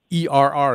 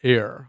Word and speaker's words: err: Or another Bob Steele-ism, E-R-R is pronounced err, not air.